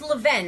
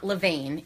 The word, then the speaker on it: Levain: cool yeah I know oh it's Levin I did a story with them once not levain it's spelled that way kind of it okay pretty